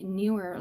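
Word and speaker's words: Neewer: Yes, my newer light is coming and it's actually pronounced newer.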